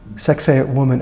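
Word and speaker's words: Sacsayhuamán: Citadel near Cusco called sex a woman some of the largest stones here are over 100 tons sex a woman and that's how we were taught how to pronounce that sex a woman was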